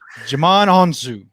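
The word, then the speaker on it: Djimon Hounsou: uh chilean murphy and jamon i have no id i can never say this guy's name right jamon anzu i think is how you say it man on island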